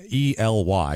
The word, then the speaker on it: Ely: inode I should say e e like Robert E Yeah e like that like you would say that it's e l y is how you spell it God forbid if you said said it Ellie or something like that I'm sure